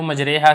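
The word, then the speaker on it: مجريها: آتا ہے نا مجریحہ، اسی کے بارے میں بتا رہے ہیں کہ اصل میں جو لفظ اس کا تلفظ ہے وہ را پر کھڑی زبر ہے، تو اصل میں یہ لفظ ہے مجراحہ، یعنی را مفتوح ہے اور اس کے بعد آگے الف ہے، لیکن چونکہ امالہ کیا جاتا ہے اسی وجہ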